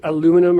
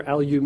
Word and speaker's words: aluminium: Aluminum or aluminium. Aluminium. Even though there's no additional I, they just pronounce it differently. Isn't there? No. Oh, wow. Yeah, no, they just say it weird.